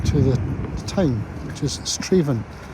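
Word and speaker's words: Strathaven: Yeah, I think this is all the River Avon, which gives its name to the town, which is Straven. It looks like Strath Avon, but pronounced locally Straven.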